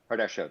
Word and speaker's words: Kardashev: Kardashev, yes.